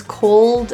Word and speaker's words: cold: The L's in these two words, cold and shoulder, the issue tends to be the tongue tip not fully touching the roof for most people. So make sure that you feel your tongue fully touch the palate or your alveolar ridge, which is that bumpy place right behind your top teeth.